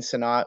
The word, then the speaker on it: Sinnott: Somebody tell me how to pronounce that, because yeah, Sinnott.